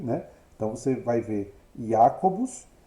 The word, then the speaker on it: Jacobus: Então, Jacobus vai se tornar Jacobus, né? Com a segunda sílaba notavelmente mais breve que a primeira e um pouco mais breve que a final.